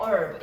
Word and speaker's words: herb: H 발음 안 나거든. herb라고 해야 돼. herb.